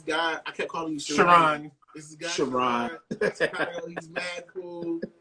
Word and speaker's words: Charan: I was like Sharon. He was like Charan. Charan. He said Charan.